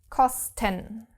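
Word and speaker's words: Kosten: cos ten cos ten in this case the thing with the syllables is there again because the syllables are separated between s and t so of course you can't pronounce it like in the case when the word is starting with an st so cos first syllable 10 second syllable okay so again it's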